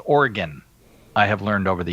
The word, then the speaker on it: Oregon: Father, it is pronounced Oregon.